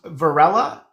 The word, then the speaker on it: Varela: So it's pronounced Varela in Spanish. It's Varela. Varela, because of the V, it's like the B.